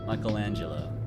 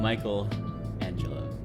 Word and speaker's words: Michelangelo: caprice capri caprese caprizzi michelangelo it's not michael angela michelangelo di lodovicio bueno like